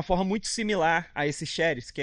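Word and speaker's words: χάρις: A primeira saudação, graça, ela, no original, ela é pronunciada como charis, e a sua escrita é como se fosse charis, né?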